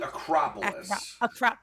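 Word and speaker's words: Akropolis: arcaropolis l i a-k-r-o-p-o-l-i-s it's probably acropolis acropolis silly me um and i am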